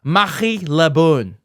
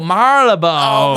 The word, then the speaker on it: Marylebone: And then the answer she gave was, and she pronounced it this way, Marie Le Bon. Shut up. Seriously, that's how she said it. And I was like, what? Oh, Marylebone.